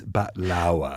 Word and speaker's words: baklava: she goes the what baklava yeah it was she goes no it's bat lawa oh okay I'm sorry